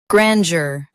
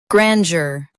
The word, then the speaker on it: grandeur: Grandeur. Now read the syllables shown on the screen naturally. Gran. Yer. Grandeur. Stress gran and keep jur soft.